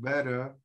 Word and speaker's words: better: is silent in british the r is silent better better yeah and this